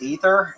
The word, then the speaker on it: Aether: What made you choose Aether? Uh cuz I'm I thought that I read uh God of Upper Air is actually pronounced Ether and I was like I just call it Aether instead.